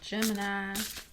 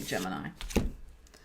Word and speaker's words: Gemini: That's the southern way you say Gemini. I could also say it like a New Yorker. Gemini. Okay, I could say it like a New Yorker or a southerner, whichever one you want.